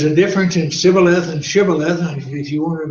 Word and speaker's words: shibboleth: And so if one pronounced it Sibboleth, he didn't pronounce it right, so they killed him at the fords of the Jordan, and there fell 42,000 Ephraimites.